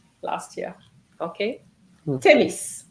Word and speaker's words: tennis: of the students said Tenny last year okay tennis so you need to pronounce the S tenis and then uh can